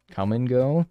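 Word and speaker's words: Kum & Go: fabled coming go and yes it is spelled k-u-m and go i'm not lying about that come and go are we familiar publix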